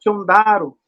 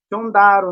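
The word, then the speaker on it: Xondaro: Aí, se vocês puderem, se vocês conseguirem aí pesquisar no YouTube a dança Chondaro. Chondaro, o nome da dança. Se escreve com X-O, começo. X-O, Chondaro. Começa com X-O, Chondaro.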